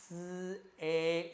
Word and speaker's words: 燒: 好，我們這個燒要記得發音發得清楚一點，發 SAU 把它連在一起。